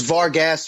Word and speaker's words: Vargas: Ortiz fight and the Vargas Ali fight just give us your thoughts yeah then just VAR Jesse Vargas definitely impressed me or it's Vargas around here it's not Vargas okay VAR Vargas Vargas